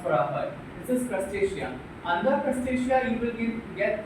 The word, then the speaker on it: Crustacea: You can say to Crustacea, we pronounce for this is Crustacea.